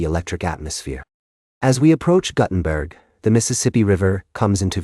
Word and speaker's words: Guttenberg: the unique charm of Guttenberg. The locals pronunciation of the town's name with a short u as in gut is a quirky detail that adds to the town's character.